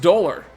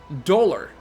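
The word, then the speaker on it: Dolhr: So it's pronounced Dolar. Dolar.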